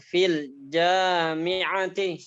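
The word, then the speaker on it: في الجامعة: T-nya nggak panjang. Fil jami'ati. Bacanya gitu. Ulang.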